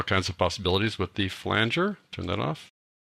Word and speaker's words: flanger: Turn off chorus and turn on the flanger. It really is pronounced flanger, folks. Some people call it flanger, but it is flanger.